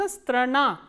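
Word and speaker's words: страна: is friend स्त्रना स्त्रना एज यू कैन see this uh the last आ इ stressed that is व्हाई इट is pronounce स्त्रना स्त्रना is country and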